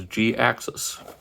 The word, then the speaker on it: Jhiaxus: basically as a response he came up with g access as in you know like canceling accident cutting it short so yeah that's how the pronounce his name is g-axis so the more you